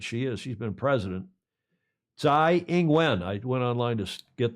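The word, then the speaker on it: Tsai Ing-wen: tough lady that she is she's been president Z inguen I went online to get the proper pronunciation she has been president since 2016 it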